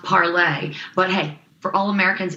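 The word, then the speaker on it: Parler: the way she told me that it's actually pronounced parlay but hey for all americans it is going to be parlor so they are doing really really well they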